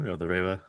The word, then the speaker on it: Reiwa: How is it pronounced? Reiwa? Yeah, the Reiwa.